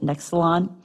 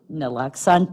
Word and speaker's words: naloxone: an opiate antagonist, specifically, help me out with pronouncing it, Nexalon, Narcan, and administration, excuse me? Naloxone, thank you, nurse.